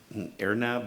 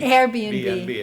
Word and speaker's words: Airbnb: And you you talked about the renters being screened by AirNob or I I don't know how to pronounce it RNB. Airbnb.